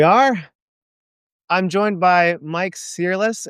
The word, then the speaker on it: Searles: I'm joined by Mike Searles. How do you pronounce your last name, Mike? You can pronounce it Searles, rhymes with girls.